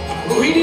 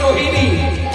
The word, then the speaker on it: রোহিণী: ভুল করবেন না, রোহিণী নয় রোহিণী নয়, উচ্চারণ হবে রোহিণী।